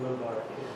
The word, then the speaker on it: Mubarak: 40-some years ago it was, before Hassan had ever heard of a man named Hosseini Mubarak, is that how you say it? Mubarak.